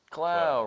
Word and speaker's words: Clow: Clow rhymes with pow.